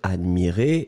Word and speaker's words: admirer: attention encore une fois on va prononcer les deux je regarde oui le premier admirait qui monte et le deuxième admire et qui descend d'accord admirait admirer vous